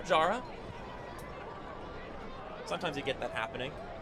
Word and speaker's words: Jara: you wondering if you're you're hearing Pablo Jara and you're getting a little Jarred by that pronunciation been Pablo Hara for so long but turns out that he wants his name to be pronounced that way now Jara sometimes you get